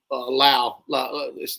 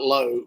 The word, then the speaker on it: Lowe: It was Lau. So it's not Lowe, but it's spelled Lowe, but they call him Lau.